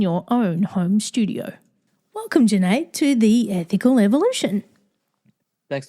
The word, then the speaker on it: Junaid: So my name is Junaid, rhymes with lemonade, and I'm a home studio architect.